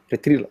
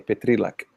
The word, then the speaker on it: Petrilac: Se o Renault puder me ajudar aí como se pronuncia, Petrilac, é assim mesmo que se fala? Petrilac? Petrilac. Ok, Petrilac. E eles estão lá na